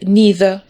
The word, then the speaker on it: neither: Якщо ми хочемо підтвердити заперечення або погодитися із запереченням, нам тут під приходять на допомогу слова neither або його ще neither вимовляють або either.